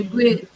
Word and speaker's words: segue: ஆனா எஸ்சிஜி செக்வே இந்த வார்த்தை இன்னொரு வாட்டி செக்வே செக்வே.